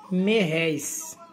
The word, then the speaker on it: réis: E o nome era Merréis. Aí se pronuncia falando réis, né? Usa o final da Merréis. Aí fala réis. Aí deu. Se deu no final aí réis.